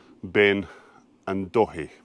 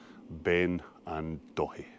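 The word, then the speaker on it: Beinn an Dòthaidh: onto the first Munro, Ben and Dòthaidh. That's how the wee man on West Highlands pronounces it, I promise you. Ben and Dòthaidh.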